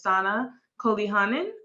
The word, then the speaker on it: Saana Koljonen: Today, I have the ultimate pleasure of speaking with Miss Sana Koljonen. I believe that is how I pronounce her name. Is that correct? Yeah, that's fine.